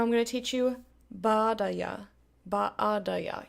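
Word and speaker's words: baadaye: Baadaya. You notice there's two A's, so you pronounce each of them as a separate syllable, because that's Swahili for you.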